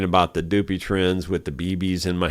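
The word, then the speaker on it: Dupuytren's: That's how the doctor pronounced it, but it's spelled D-U-P-U-Y-T-R-E-N-S. Or T-R-E-N, and then there's apostrophe S. Dupuy trends is the way it looks like to me, but anyway, people usually just shorten it to Doopy trends.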